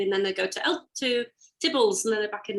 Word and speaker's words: Theobalds: They bypass London briefly, and then they go to Theobalds, and then they're back in London, proper London.